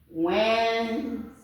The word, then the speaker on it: Wednesday: And this one is Wednesday. The letter D here is silent.